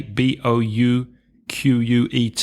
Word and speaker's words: bouquet: bouquet of flowers okay bo u qu et are you gonna tell us how you pronounce that in French bouquet bouquet bouquet sounds much better in French doesn't it bouquet a drama of